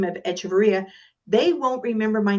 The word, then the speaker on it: Echevarria: No, it's so think of it as Echevarria. No, you're Echevarria, but here's how to do it. The Nina, the Pinta, the Santa Maria, the Nina, the Pinta, and Echevarria.